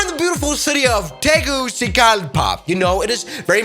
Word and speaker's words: Tegucigalpa: How do you pronounce this city right here? Tegu. What is this? Let me ask my friend Google. Tegucigalpa.